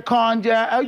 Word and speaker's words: cognac: a cognac. No, catch a contact, Cognac. sipping. Cognac. No, he didn't even pronounce it didn't well.